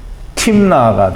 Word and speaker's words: Timna: 우리말로는 다 다말과 딥나인데 사실은 타마르와 timna가 됩니다. 그래서 다는 히브리어로 다의 발음이 나는 건 달레트, 문이라는 뜻인데요. 그렇지가 않고요. 여기는 타예요. 타부는 400세겔을 낸다라는 의미를 가지고 있습니다.